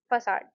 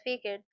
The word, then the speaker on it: facade: to his cave and asked us to pronounce facade. We all pronounced it as faked. Then he corrected us saying it should be pronounced at facad.